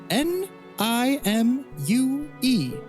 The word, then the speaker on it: Nimue: If she hears you say it, she may execute you on the spot, but Can we spell it? Please. N I M U E Nimue.